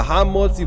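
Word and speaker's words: המוציא: Therefore, in the hamotzi blessing over bread, as I mentioned before, the master of the house must be scrupulous in pronouncing ha, that it may be clean without refuse.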